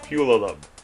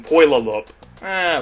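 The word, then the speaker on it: Puyallup: I think that's the correct pronunciation. Pulalup. Which is better than Poilalup.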